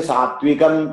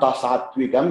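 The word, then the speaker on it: सात्त्विकम्: There is actually two takaras. Generally, children say sattvikam. It's not sattvikam. It is sattvikam.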